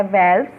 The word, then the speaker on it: valves: Till now, जिनमें कि एक है वेल्व्स, okay, some people pronounce it एज वॉल्व्स, so which ever way you want to pronounce it.